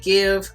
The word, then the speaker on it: GXVE: I also think you pronounce it give.